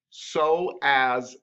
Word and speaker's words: psoas: so as but it's not it's spell it's pronounced so as major and that muscle goes along with the